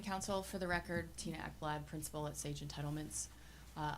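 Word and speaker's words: Ekblad: your last name again e kbl l a d is how it's spelled and it's pronounced eblad okay thank you never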